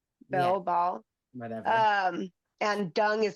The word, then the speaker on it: Baal: Well, yeah, if it's like worship of Baal, right? Am I saying it right? Yeah, Baal.